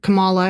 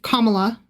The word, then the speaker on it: Kamala: And every time he did he would say it Camala and I would say Kamala.